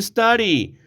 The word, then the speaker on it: study: Example number 4, why do you study? ¿Por qué estudias? Aquí la D se pronuncia en el inglés americano casi como una R, ¿no?